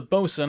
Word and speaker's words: boatswain: Because the bosun, I'm just going to go with bosun, because I get confused about the whole bosun boatswain thing and how that works. Apparently sometimes you pronounce one as the other.